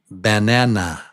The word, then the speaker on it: banana: them ba okay so the word is actually banana Banana. Banana. Banana. Right. But it's pronounced bbana.